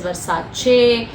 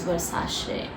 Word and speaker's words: Versace: to call it as Versace it could be right okay but then when I travel and when I was in Italy um most of these Italians pronounce it as Versace so um this is